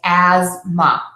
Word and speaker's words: asthma: we see the word asthma we do not say the th and we would just say Asma as if the word was spelled a z m a so how do we